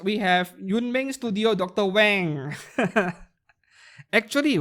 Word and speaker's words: Wang: Wang. Actually, right, W-A-N-G, over in English-speaking countries, you all pronounce it as Wang, right? It is actually Wang. Right? In Mandarin, it is pronounced as Wang, not Wang.